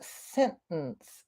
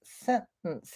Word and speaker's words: sentence: I say sometimes that I hear a glottalty in sentence uh yes you can you know sentence sentence yeah it does sort of have a glottal t in it I haven't really thought